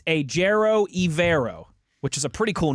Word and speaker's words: Evero: it's my job, but I've always heard it pronounced Evero. But I would trust the Panthers website over me. Evero is kind of how they have it laid out on their pronunciation guide.